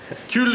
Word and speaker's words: cul: Cul is ass. No, you don't pronounce the L.